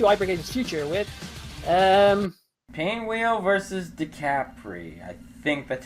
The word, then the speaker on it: DiCapri: Hypergage's past to Hypergage's future with, Painwheel versus DiCapri. I think that's how you pronounce it. I don't know. Yeah, I don't DiCapri.